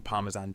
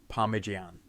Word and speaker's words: Parmesan: it all off by grating parmesan cheese or as Megan so eloquently mispronounces it parmigian Italian chefs everywhere just